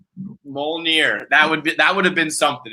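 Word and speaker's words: Mjölnir: It's Molnir. That's the pronunciation. It's Molnir. Molnir.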